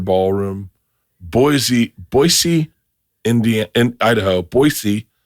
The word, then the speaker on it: Boise: Boisey, Idaho. That's how you're supposed to say that. Do you know that? No, I have. Boyisey.